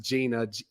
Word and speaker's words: Jeanna: it's wild yes well Gina thank you so much and for the listeners when you look her up if you're not listening it's it's spelled j-e-a-n-n-a uh but it's it's pronounced Gina Gina tell the people